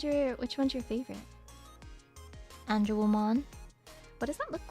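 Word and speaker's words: Angewomon: And And No, but it's pronounced an angel woman.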